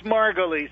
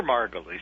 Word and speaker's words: Margolis: It's Margolis, but, you know, everybody has a problem with it, including myself, so don't feel badly. But I prefer Margolis. That's Margolis. what my father used to use.